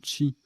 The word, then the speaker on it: qi: QI, qui se prononce également Chi, énergie vitale dans les pensées chinoises et japonaises.